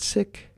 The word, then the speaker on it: Sikh: woman named Valerie Kaur, a Sikh woman Sikh, but they pronounce it sick.